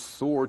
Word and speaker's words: sword: Mouse Soldier 2 points his sword toward Prince Yogurt and says, "Any last words?" 老鼠士兵二用他的剑指着优格王子，有任何遗言吗？ Sword, 名词，剑，这个字呢，字母 W 是不发音的，last 是最后，last words 最后的字。那这句话呢，就最后的字什么意思呢？就是遗言。